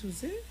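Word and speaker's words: José: Is Jose? Yeah, Jose Young. Spelled like that?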